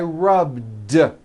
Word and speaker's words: rubbed: Yesterday I rubbed. All I did was add a voiced D sound at the end. Rubbed. It's not rubbed with an unvoiced T. It's rubbed, like that.